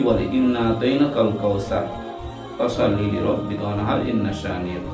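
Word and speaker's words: كوثر: সার যদি কেউ বলে অর্থাৎ সিন হয়ে গেল, কিন্তু ওখানে সিন নেই, সা আছে। এই সাটা উচ্চারণ করতে হবে অবশ্যই।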